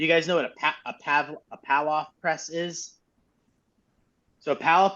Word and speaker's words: Palloff: You could move if you wanted to, but Pavlov press is Palloff, I think it's pronounced.